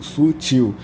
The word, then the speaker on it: sutil: vai ser acentuada por porque a sílaba tônica aqui ela é otil Sutil e nesse caso aqui